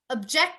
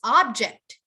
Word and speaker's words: object: you object to this object how can you object to this object this word right here the first obj ect is a verb so you have to print uh emphasis to end how can you object